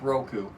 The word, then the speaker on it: Roku: I think I've been hearing it correctly said so many times, I'm actually saying it the right way, so it's Roku.